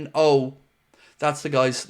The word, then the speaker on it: Mastantuono: to trigger Franco Mastanuono's, excuse my pronunciation of this, but it's Mastantuono.